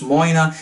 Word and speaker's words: Moine: it says here so it says here on the front pronounced Mona so this is a